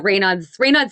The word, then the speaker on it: Raynaud's: But I'm now again even more impressed knowing that you have it's called Raynaud's. Is that how you pronounce it? Yeah, Raynaud's syndrome.